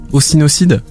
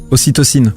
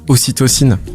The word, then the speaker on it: ocytocine: Non mais parce que les orgasmes, parce que j'ai appris des super mots, je sais même pas si je les prononce encore, mais ocytocide. Ocytocine. Ocytocine.